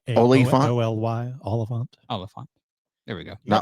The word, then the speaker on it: Olyphant: Oliphant. Timothy Oliphant.